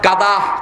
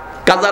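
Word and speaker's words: قضى: আল্লাহ বলছেন এই আয়াতে কারিমার ভিতরে, আকাদা রাব্বুক, কাদা কাদা, আমরা কই কাজা, নামাজ কাজা হয়ে গেছে। কাজা শব্দটি আরবি, কাজা না, কাদা বোয়াক, এটা জুয়া না, কিন্তু আমরা উচ্চারণ করি জুয়া।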